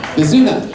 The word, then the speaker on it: Bazuna: It's Kazuna. Bazuna. Rhymes with Tuna.